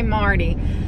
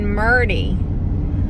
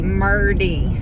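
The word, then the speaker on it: Merdie: I didn't say Marty. I said Murdy. Like M-E-R-D-I-E, Murdy. Murdy.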